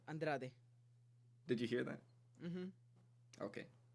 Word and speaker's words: Andrade: against Jessica and Raj you see how I pronounce that I said it with the Brazilian accent Andrade did you hear that